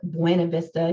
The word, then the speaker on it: Buena Vista: I know that Buena Vista, and yes, it's Buena Vista in Winston-Salem. If you call it Buena Vista, you'll never sell a house in there. Okay. So I'm not saying it wrong. I'm saying it wrong, but I'm saying it wrong intentionally because that's how you say it here.